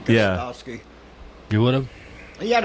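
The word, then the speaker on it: Gostkowski: Gostowski.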